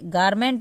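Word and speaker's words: garment: है कपड़ा होता है जेंडर देखिए यहां पे गारमेंट मैंने पढ़ा जी को और यहां पे जी को ज पढ़ा यानी कि जी ई है तो यहां पे ज पढ़ना है इस बात को ध्यान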